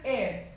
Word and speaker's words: heir: ठीक है, आगे वाली जो जनरेशन होती है उसको अगर हम प्रॉपर्टी अपने पास करें, that is heir and not hair. Heir. Heir. Next is hour and not hour or hour or whatever.